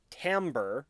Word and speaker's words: Timbre: to venely finding esrenai's body in the chasms Timbre yes it's pronounced Timbre finds a new person to bond the epigraphs